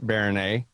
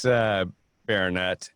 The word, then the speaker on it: Baronet: It's pronounced Baronet, just like the word. It's Baronet, if you don't know how to pronounce Baronet.